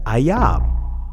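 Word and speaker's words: אויב: The Hebrew definition of the transliterated word enemy is pronounced ayab, which means to hate.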